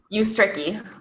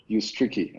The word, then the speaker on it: Ustrzycki: pronounce it either, so don't worry about it. How do you say it though? Ustrzycki. What? Ustrzycki. Ustrzycki.